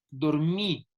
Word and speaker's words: dormí: Dormí. La regla real, muchachos, es que esta es una palabra aguda que tiene el acento en la última sílaba y por ello ya tilde porque termina en vocal.